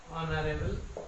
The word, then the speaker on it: honorable: prime minister is an honorable one বলছে প্রধানমন্ত্রীর যে পদ পোস্ট সেটা হচ্ছে একটা অনারেবল পোস্ট অনারেবল এই যে অনার এইচ এর উচ্চারণটা সাইলেন্ট থাকছে তার জন্য অ্যান লিখলাম এখানে।